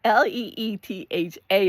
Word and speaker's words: Litha: to pronounce Litha, and it's actually pronounced Litha. Litha. And he said it like that, Litha. He kind of did have an accent. I don't think that, being born and raised in California, I should be trying to have a European accent. Litha. Welcome to Litha. Anyway, so it's Litha. Leetha is how it's pronounced.